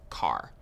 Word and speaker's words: char: covered integers what's next chars so chars are used for variables that will store single characters char short for character and sometimes you might hear people pronounce it as car so characters always take